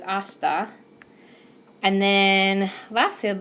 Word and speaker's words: hasta: the beginning of words so those are gonna be silent with hasta and then lastly I'd